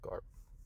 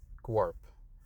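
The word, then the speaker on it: Grawp: No, not Garp. Guarp. That's how you say it.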